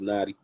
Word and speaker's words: Knxtti: a little bit facts my name is i know it's felt kind of crazy but it's pronounced naughty mm-hmm mm-hmm indeed indeed